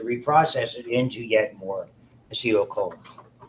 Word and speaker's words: acetylcholine: it into yet more acetylcholine. They'll say acetylcholine. I think they're accenting the wrong syllable.